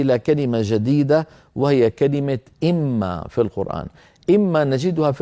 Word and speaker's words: إمّا: ان كلمه وما كلمه ولكن عند الوصل القرا واحده اما لابد من ادغام النون في الميم فيصير النطق اما هذا ما نلاحظه على